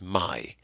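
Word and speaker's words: μαι: me Alpha Iota men if you're a student of ancient Greek who doesn't really understand the history of Greek pronunciation you may want to call this my me Alpha Iota in these slideshows we'll call it me okay so let's take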